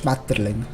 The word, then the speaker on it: Schmetterling: In Swiss German, you pronounce it slightly differently. You say Schmetterling.